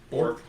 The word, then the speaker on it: Bjork: It's Bork. Bork.